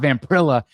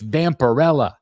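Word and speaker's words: Vampirella: Somebody Somebody messaged me today and they're like, "Chris, it's not Vamprella, it's Vamparella."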